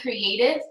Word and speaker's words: CRTV: It's MK Creative, and creative is spelled CRTV.